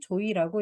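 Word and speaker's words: 召史: 여기서 보이는 조이라는 이름은 조선시대에 주로 양민의 아내나 과부를 이르는 말인데, 한자로는 소사라고 쓰고 읽을 때는 조이라고 읽습니다.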